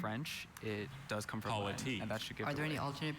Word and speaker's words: politique: Now, even though it's French, it does come from politique. Are there any alternate pronunciations?